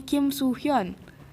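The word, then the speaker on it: Kim Soo-hyun: Kalau ini emang pakai U, jadi bacanya Kim Suhyun. 이렇게 Suhyun. Ya, paham ya? Jelas nih, Kim Suhyun, SU, makanya di nama internasionalnya SOO. Kalau ini Kim So Hyun, S-O.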